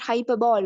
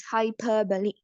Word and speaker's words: hyperbole: take it as a hyperball also hyperb we pronounce it's not hyperball okay most of the teachers and the students say it is hyperball but it's not hyperball it's hyperbole okay hyperbole means exaggerating ere exaggerating so he's